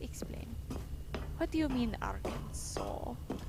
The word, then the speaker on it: Arkansas: What do you mean Arkansas? Fun fact, Arkansas is pronounced the way it is because it had a much higher French population. And so their language affected the name, resulting in something more like...